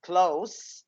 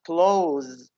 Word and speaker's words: close: we use the noun the adjective close it's uh say sound but the verb is close it's zest sound so if we are going to read this word as a verb it will be z sound close close okay but if it is an adjective we say close he would say precise